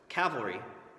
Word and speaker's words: cavalry: the two different versions the correct way for to pronounce the word for horse soldiers is cavalry that did I just do it again cavalry with the L towards the end and cavalry is something